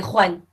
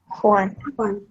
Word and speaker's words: Juan: I would say Juan. Juan. Get that kind of rasping.